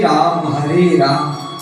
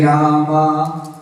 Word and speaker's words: राम: और हम लोग क्या करते हैं? हरे रामा रामा रामा, पुल्लिंग को ही स्त्रीलिंग कर दिया। राम होता है शुद्ध उच्चारण महामंत्र में।